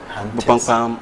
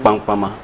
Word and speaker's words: Bupampam: Bupampam are the great hunters. Okay. That is the translation in English. But because they couldn't pronounce Bupampam, they were pronouncing it Pampama, Pampama.